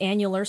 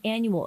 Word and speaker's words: annular: Society of Nevada says some people mispronounce it as an annual Eclipse but it doesn't happen every year annual refers to uh